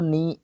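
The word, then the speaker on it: neigh: एक जैसे से हैं साउंड ऑफ होस उसको नी प्रोनाउंस करते हैं नी बोलते हैं इसको हिन हिना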